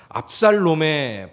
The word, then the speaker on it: 압살롬: 반역에 있어요 아들입니다 압살롬입니다 발음 잘 하셔야 됩니다 압살롬 리을입니다 압살롬의 반역에 의해서 왕의 자리에서